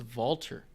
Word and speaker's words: Walter: the other problem with walter it's pronounced vaulter but no one does it so he already